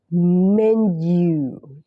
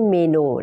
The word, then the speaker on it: menu: Can I see the Men you อัน นี้ ออก เสียง เป็น Men นะ คะ ไม่ ใช่ เมนู นะ ค อ่ะ ขอบคุณ หัว ใจ